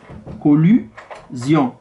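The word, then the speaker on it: collusion: يعني هنايا عندنا كولوزيون، هنايا كوليزيون، يعني هنايا او وهنايا اي.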